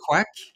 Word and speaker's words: Quek: exactly as you pronounce it's quack like a dark sound quack so that's how you